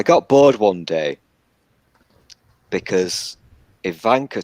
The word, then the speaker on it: Ivanka: bored one day because Ivanka Trump or Ivanka as you guys would pronounce it was just annoying me